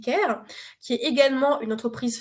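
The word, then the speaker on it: Qare: locaux on a Ker alors bon ça s'écrit car mais ça se dit care qui est également une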